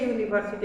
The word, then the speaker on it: university: সো এ ইউনিভার্সিটি আমরা ব্যবহার করেছি, তাহলে এই ইউটা ঠিক ইউ এর মতো উচ্চারিত হয়েছে, এই জন্য এর আগে আমরা আর অ্যান ব্যবহার করতে পারলাম না।